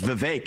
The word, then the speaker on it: Vivek: I often open up, I say, my name's Vivek, it rhymes with cake.